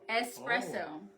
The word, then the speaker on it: espresso: but you're saying espresso how do you spell it though it's espresso there's no X though espresso you're like Espress espresso